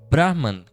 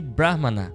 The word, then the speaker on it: Brahman: Então de novo, Brahman com Não é a mesma coisa que Brahha, que é o deus, o criador, né, que aparece na iconografia indiana com quatro cabeças.